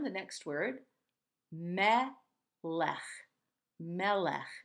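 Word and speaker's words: מלך: next word Matt laughs Mela we have that same gentle huh sound at the end of mela mela means king mela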